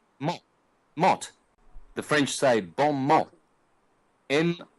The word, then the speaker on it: mot: the French c'est bon mot in O T they don't pronounce the T but the word in